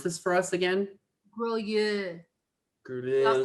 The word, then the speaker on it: Grolleau: Can you pronounce this for us again? GROLLEAU. All say it together. GROLLEAU.